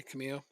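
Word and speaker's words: Camello: The double L is pronounced like a Y sound. Probably Camillo. Yeah, I don't know. I call him Camelo because that's anglicized.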